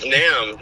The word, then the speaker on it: NAMM: Is it NAMM or NAM? It's NAMM.